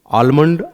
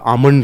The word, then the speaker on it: Almond: आलमंड, आमंड कुछ भी लिख सकते हैं। अंग्रेजी में ए एल करके लिखता है, हिंदी में एल को आप साइलेंट करके बोल सकते हैं, क्योंकि आलमंड को बोला बेसिकली जाता था आमंड ही, है ना।